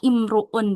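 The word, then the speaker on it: امرؤ: Nah, kalau untuk kata imruun di sini enggak bisa dilihat huruf ketiganya ya. Tapi ee harus kita hafalin. Intinya kalau ada kata imruun berarti hamzah wasalnya dibaca kasrah ya.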